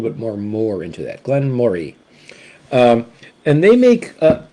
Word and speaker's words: Glen Moray: the Glenn Murray okay I'm going to be pronouncing this as as as much like the uh Scottish Folk do Glenn Moray not Moray okay uh Glenn Murray it's like you're saying the word Murray but you just kind